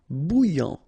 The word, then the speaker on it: bouillant: Bouillant, final T not pronounced. A and together, remember, nasal, en, okay? And then here you get bou, all right? And after that you get this yan, okay? Bouillant, bouillant.